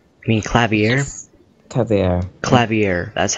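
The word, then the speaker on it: Klavier: Clavier, that's how you pronounce it.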